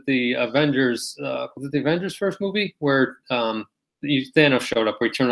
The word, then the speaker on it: Thanos: Up your glasses and said, "Actually, that's Thanos." I said, "That's Thanos." Before the movie before said we it all was. learned the right way to say it.